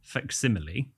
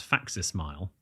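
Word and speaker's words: facsimile: fax is a is is an abbreviation for faximile okay which for years I mean what a fool I was I used to pronounce as faxes smile so this that I mean it's an everyday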